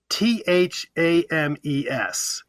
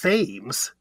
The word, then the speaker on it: Thames: London which is t-h-a-m-e-s but in Connecticut the settlers came earlier when the Thames was pronounced Thames and that little river is called the Thames in Connecticut Isn't that cool I